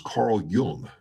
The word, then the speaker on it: Carl Jung: and most influential was Carl Jung j-u-n-j-u-n-g but pronounced like young and he is a